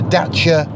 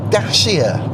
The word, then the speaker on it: Dacia: mispronounced all the time the answer is dater and drawing a data duster data of course a lot of people still call daia or even daier now the name you